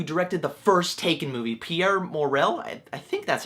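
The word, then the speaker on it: Pierre Morel: the guy who directed the first taken movie pierre morrell i think that's how you say his name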